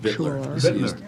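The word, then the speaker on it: victualler: along with related common victular park, I can never say that. and Victular. parking Victular. licenses. Victular. The C is silent, or the T is silent, Victular.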